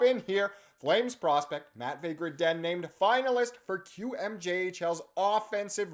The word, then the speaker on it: Gridin: And the first man we're going to be talking about is Matvei Gridin, or Gridin, as I've been informed is how you pronounce it. So we'll say Gridin from now on.